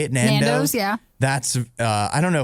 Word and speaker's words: Nando's: Nando's, yeah.